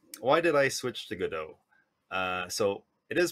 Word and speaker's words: Godot: switch to gdo uh it's pronounced gdo because it comes from the French p uh waiting for gdau and uh I was